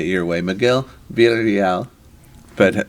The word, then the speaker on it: Miguel Villarreal: Miguel Villarreal. But how do you say it? Miguel Villarreal.